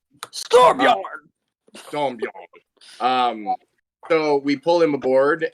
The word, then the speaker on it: Storbjorn: Stormbjorn. Storbjorn. Norse Force. I have officially figured out how to say it after like an hour of practicing. Storbjorn.